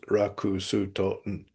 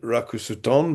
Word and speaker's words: Ruxton: There's two ways of pronouncing my name. Uh I don't mind Raku Suton because um that can be quite easily readily converted into kanji.